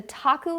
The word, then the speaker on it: Taku: does that sound so that's Taku lounge I lodged and it's spelled tak you oh okay so how